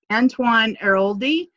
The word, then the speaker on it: Antoine Airoldi: And did I pronounce that right? Yes. Okay. Antoine Airoldi.